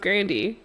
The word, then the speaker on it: Grande: of blackfishing, because Ariana Grande, whose last name is actually pronounced Grandi, but she just stopped correcting people, is an Italian white woman.